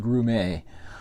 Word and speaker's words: Grummett: It's spelled Grummett, but I believe it's pronounced Grumet.